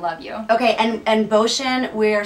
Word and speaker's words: Bocian: you okay and and ocean we're spelling b o c c i a n but to pronounce it it's like ocean with a b ocean with a b